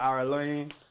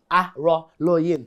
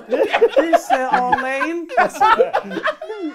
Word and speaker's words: Araloyin: Araloyin. Yeah. Your name's easy to pronounce once you read it. When somebody had said it to me, I was like, okay, let me try it. I said, Arlaine.